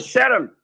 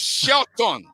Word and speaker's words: Shelton: Sharon, how are you doing? The man is not Sharon. The man is Shelton. No, he called it a Canadian way. It's the Canadian pronunciation.